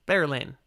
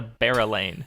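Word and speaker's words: Berelain: her name bearlain really you say that one with only two syllables yes bear lane i always did a barrel lane for that one really this one might be the i'm horribly wrong just like you're horribly wrong on jewellen but yeah i was a three syllable one anyway first of my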